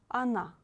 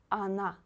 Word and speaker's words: она: Она, она. O you read as A, because here O is not stressed. Она. Please don't say она. It's not correct. Она, она.